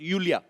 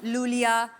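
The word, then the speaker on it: Iulia: pronounce Yulia. Yulia. And the spellings are I-U-L-I-A. So I Thank क्यों God मतलब? you know. I mean, why I? God. Everyone is calling me Lulia.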